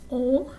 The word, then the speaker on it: on: itself as a pronoun, it's pronounced o. So the sound of the vowel is like o, but you're sending all that air and all those vibrations through your nose.